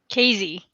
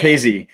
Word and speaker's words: Kayze: Today, we have Kayze. Did I pronounce that right? Kayze, yeah. Kayze.